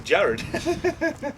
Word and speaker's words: Jarad: the deck I've got is Jarad? Is that how you say it? If these move, you know how windy it is. Yes. Here you go. Jarad. Jared. Jared. Golgari. Oh. No, I'm saying it's Jared.